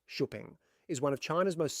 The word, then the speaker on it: Xpeng: The Xpeng G9. Now, Xpeng, pronounced "Sho peng", is one of China's most serious tech-focused car brands.